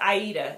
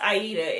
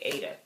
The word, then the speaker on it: Aida: um it's it's pronounced aida it's the cloth that you stitch on it well basically beginner cloth that you stitch on it's pronounced aida it's named after the opera but everyone calls it ada there you go aydah